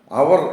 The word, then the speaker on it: hour: അതിൻ്റെ spelling HOUR ആണ്. അതുകൊണ്ട് ഹവർ എന്ന് നമ്മൾ പറയേണ്ടതില്ല. അതിൻ്റെ ഉച്ചാരണം അവർ എന്നാണ്.